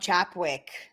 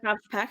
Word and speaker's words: Chapek: That sounds like a Bob Chapwick. Chapek. Chapek? Is that how you pronounce it? Bob Chapek, yeah.